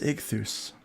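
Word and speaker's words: Ichthys: Ultimate Kahuna says I believe that's pronounced Ichthus.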